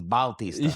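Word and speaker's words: Bautista: He's Baltista or however you put pronounce that, but it's B AU and not B A T.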